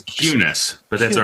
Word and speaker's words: Kunes: given uh the privilege of knowing how to pronounce your last name. I wasn't either. No, that's all right. Yeah, it's Kunes. But that's all right. Kunes.